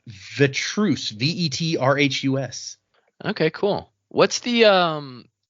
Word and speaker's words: Vetrhus: The name, I'm gonna try my best to pronounce this. The first name is Odd, ODD, and then it's Vetrus, VETRHUS.